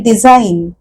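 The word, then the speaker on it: design: म्हणा किंवा आकृती म्हणा आणि डिझाईन या शब्दात परत डी एस आय जी एन जी म्हणजे ज असा उच्चार असायला हवा किंवा ग असा उच्चार असायला हवा त जी चा उच्चार ग अस आपण कुठे कुठे करत नाहीय कस लिहिल झा ग कुठे येतोय म्हणजेच जी हे अक्षर झालं सायलेंट अशा पद्धतीने भरपूर इंग्लिश मध्ये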